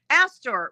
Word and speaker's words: Astor: And am I pronounced, is it Astor or a star? Oh boy, let me correct that whole sentence. Who the heck is Tracy Meltzer? Oh, Oh my gosh, who is that? Oh. um, let's see. There's a Tracy Phelps in my past floating around. Tracy Meltzer. Astor, Astor, Astor. Astor, however you would like to pronounce it.